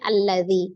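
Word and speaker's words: الذي: huruf keduanya adalah lam maka alifnya berharakat fathah a berarti kita bacanya alladzi Ya kenapa kita baca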